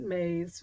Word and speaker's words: Myss: And I talk about remembering your purpose because in Carolyn Mays, and she spells it Myss, but she pronounces it Mays, wrote a book called Sacred Contracts.